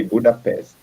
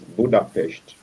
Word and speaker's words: Budapest: in their language that they pronounce s as the hsh so we from the english point of sight we would say budapest but from them they will pronounce it as budapest so you they use